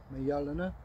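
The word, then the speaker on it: Mjölnir: Mjollnir, Mjollnir? Well, it's Mjollnir, the Y is silent.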